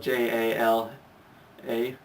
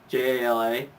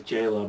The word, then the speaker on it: Jala: was first introduced in lego it was spelled j-a-l-a j-a-l-a and uh it was pronounced jala or i used to think it was jayla but apparently it was jala and then when